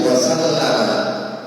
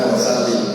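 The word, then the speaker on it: وَسَلَّمَ: Ada lagi wasallama bukan wasallim ya.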